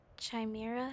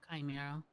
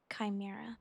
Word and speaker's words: Chimera: Chimera, is that how you say it? No. Chimera. Chimera.